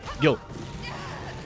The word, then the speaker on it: Gil: Gil. With a G, not with a G. Sound. G sound. Chill for a shower. Not G. Good, correct way. Yeah, it is? Okay. Like this, Gil.